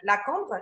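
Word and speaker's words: La Cambre: to one of the most prestigious fashion schools, La Combe, yeah? Am I pronouncing that right?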